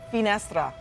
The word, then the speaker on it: finestra: you know what Mel in Italian the word window is pronounced finestra so I think it's